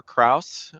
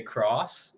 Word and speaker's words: Krauss: it with uh Krauss uh joining us today welcome thanks Joe um also pronounce my last name right which is which is great most the time people say cross uh so appreciate you